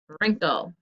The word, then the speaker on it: wrinkle: pause until you're ready the er was indeed the silent letter wrinkle so let's underline that digraph and cross off the w because it is silent okay number two repeat